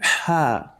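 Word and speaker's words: ح: Tha, Jim, Jim, ha, Ha, ha. Ha. You can see that the pronunciation of ha is somehow stronger than we have it in English language, that is H.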